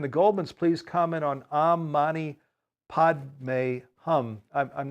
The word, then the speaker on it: Om Mani Padme Hum: Oh, Mane Padme Hum. You pronounced it beautifully, Steve.